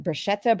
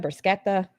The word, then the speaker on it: bruschetta: Is it bruschetta? Brusquetta.